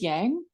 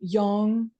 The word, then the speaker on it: Yang: it would be yangong a lot of people pronounce this Yang um which is not strictly correct but is totally fine um so young is the opposite so if we want to